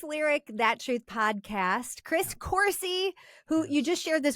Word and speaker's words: Coursey: that truth podcast Chris Cory who you just shared this with me rhymes with horsey it does yep it's